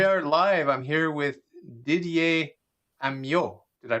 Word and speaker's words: Didier Amyot: okay so we are live i'm here with didier amio did i pronounce that properly that's perfect that's perfect you